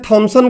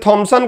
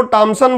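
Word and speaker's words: Thomson: जैसे थॉमसन को टॉमसन बोल देते हैं, और भी अपने अपने हिसाब से हमने फिरंगियों का नाम बिगाड़ के खूब रखा है।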